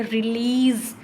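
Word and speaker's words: release: Verb में भी ऐसे, रिलीज, लीज को लंबा बोल रहे हैं तो लीज पर क्या लग जाएगा, स्ट्रेस लग जाएगा।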